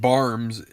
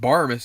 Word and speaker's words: Barmes: fan rng IDP that it is not Clint Barmes is Clint Barmes and then I proceeded to tell him that in fact Clint actually mispronounces his own name it's actually Barmes because I said it so so that's just